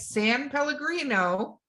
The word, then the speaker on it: San Pellegrino: I am drinking, watch this, Val, this is how you say it, San Pellegrino.